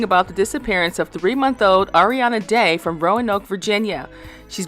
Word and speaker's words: Arieanna: Is it Arieanna? Yes. Okay, Arieanna, just want to make sure I'm pronouncing her name right.